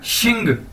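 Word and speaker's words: 姓: नीचे हमारे पास XIN, एक्स को मैंने बताया था पिछली वीडियोस के अंदर भी कि इसको हम शीन से प्रोनाउंस करेंगे, यानी एक्स शीन बोला जाता है चाइनीज के अंदर, तो यानी XIN शीन। अगर इसके साथ हम जी लगा देंगे तो क्या बन जाएगा शिंग, XING शिंग।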